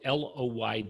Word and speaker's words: Loyd: So the only trick is my last name is spelled with one L. So Loyd is Lloyd.